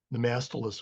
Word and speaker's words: Nemastylus: Nemastylus would be correct, but Nema and stylus are the two functional Latin words that were brought together to make the name.